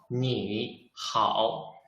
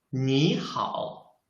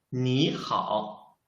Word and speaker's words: 你好: Because in Chinese, if there are two third tones, we should change the first third tone into the second tone.